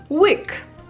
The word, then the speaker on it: łyk: And when you compare it to English, you can compare the letter E with a W, because it's a very similar sound. And now an easier example of a word than Łódź, łyk, which is a sip.